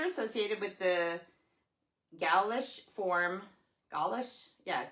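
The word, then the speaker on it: Gaulish: Galish. Yeah. Galish like Gway probably. G A U L I S H.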